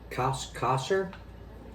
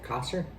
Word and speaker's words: Causor: Causor? Is that how you pronounce it? Causor? Causor? There we go.